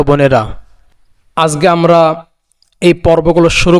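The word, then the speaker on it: ب: বা উচ্চারণ হবে দুই ঠোটের ভেজা অংশ থেকে।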